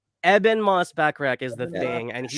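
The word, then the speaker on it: Ebon Moss-Bachrach: Eben Moss-Backrack. Eben Moss-Backrack is the thing, and he's shout out amazing in the bear.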